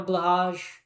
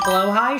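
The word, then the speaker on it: Blåhaj: I don't even have Don't even have a blahaj. Don't even have a blahaj. Very sad. I know someone's going to comment "It's pronounced blow high." Shut up, dude. Shut up. Let me pronounce it wrong.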